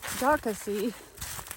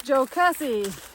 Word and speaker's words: Jocassee: It's not Jocassee, it's Jocassee.